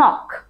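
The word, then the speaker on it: knock: তারপর আছে আমাদের জন্য নক। নক মানে কি? টোকা দেয়া, আঘাত করা। সো আমরা দরজায় যে নক নক বলি, এই নক এটা আসলে কিন্তু আমাদের জন্য একটা সাইলেন্ট কে লেটার ওয়ার্ড।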